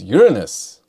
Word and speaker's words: Uranus: It's Uranus, by the way. People always pronounce it wrong.